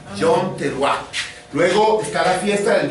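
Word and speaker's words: יום תרועה: Bueno, la fiesta de las trompetas en hebreo se pronuncia Yom Teruah. Yom Teruah.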